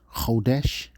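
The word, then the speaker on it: חודש: That would be pronounced kodesh in the modern Assyrian script, the modern Hebrew language.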